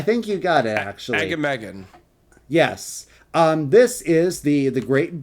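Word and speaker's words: Agamaggan: All right, and the next one, I can never pronounce this name. Is it Agamagam? Yeah, I think you got it, actually. Agamagam.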